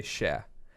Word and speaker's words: cher: I think it's like technically spelled like in the French way, like CHER. But like we say it casually like just SHA, like sha.